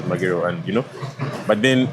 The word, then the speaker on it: Magero: It's not as easy as you're gonna names that I will know that Magero is pronounced as Magero, and you know.